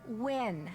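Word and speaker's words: Nguyen: Maya Wynn. Can you spell that, please?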